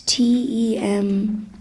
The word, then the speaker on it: tempeh: It's TEMPEH. TEM. Yeah. It's called tempeh.